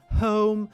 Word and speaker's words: home: Тобто словом, home через ось цю магічну і о у нас читається як дивтонг.